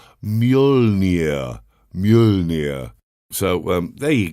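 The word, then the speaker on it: Mjölnir: you can pronounce it it's m j o l n i r the couple of dots yeah that was a tough one the answer is thor's hammer was called mjolnir mjolnir so um there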